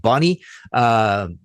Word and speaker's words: Bonnet: The latest Rainbow lineup reads Ritchie Blackmore guitar, Graham Bonnet vocals, his surname spelled Bonnet but pronounced Bonnie, which partly explains this paper's inconsistent spelling of it.